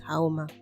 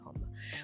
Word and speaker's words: Homa: I'm learning to pronounce her name correctly, because in my head it's Haoma, but it's actually Homa.